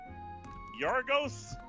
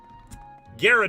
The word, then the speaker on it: Gyarados: Because then you can pick one that you actually know how to pronounce. You're doing the G Yeah, one. like damn it. Yargos? Gyarados.